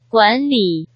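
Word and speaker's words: 管理: 그래서 어떻게 발음하나요? 管理 네, 관리 이렇게 발음돼야 되겠죠.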